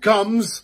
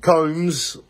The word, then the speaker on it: Combs: me and graham luke comes six feet long it comes no it's pronounced like a comb oh lovely cone luke combs six feet apart from